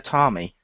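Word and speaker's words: Teatime: world with tea time actually no it's pronounced tiami that might just be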